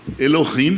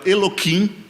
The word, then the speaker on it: Elohim: Os judeus falam Elohim, que quer dizer Deus também. Esse meu amigo falava Eloquim de propósito errado.